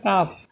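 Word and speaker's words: calf: এটার বাংলা মিনিং আছে বাসুর বাসুর কাফ এর উচ্চারণ হবে কাফ সি এ এল এফ এখন দেখেন এই যে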